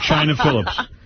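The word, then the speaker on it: Chynna Phillips: China Phillips. But China is spelled Chynna.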